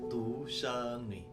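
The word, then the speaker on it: 独生女: Guys, by the way, anak tunggal di dalam bahasa Mandarin itu bacanya tu sheng ni.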